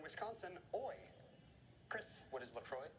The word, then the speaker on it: LaCroix: FYI the French pronunciation ends with law this sparkling water brand founded in Wisconsin oi Chris what is Lacroix not Lacroix yes quotations a in